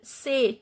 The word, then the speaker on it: c'est: C'est, t is not pronounced.